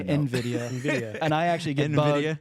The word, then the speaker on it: NVIDIA: How do you say that? I say NVIDIA.